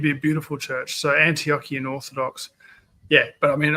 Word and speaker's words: Antiochian: How to pronounce that?" Antio Antiochian.